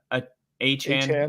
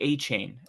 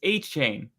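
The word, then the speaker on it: Achane: like Devon a uh aan it's actually achan I I don't know who said aan I he did I just watched him say that's achain no way yeah and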